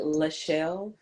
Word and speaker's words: LaShell: My name is LaShell. So it's like Michelle, but with an L. It's just not spelled like Michelle. So it's like LaShell.